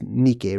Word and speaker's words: Nike: Actually, Nike should be pronounced Nike, really.